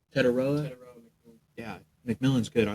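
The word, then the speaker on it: Tetairoa: yeah, Teteroa McMillan. How do you say his name? Teteroa. Teteroa.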